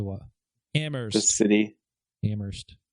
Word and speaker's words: Amherst: I think I went out to Amherst and East Hampton, Northampton area. Did you just say it? How did you say that? Say what? Amherst. The city. Amherst. The H is silent, bro.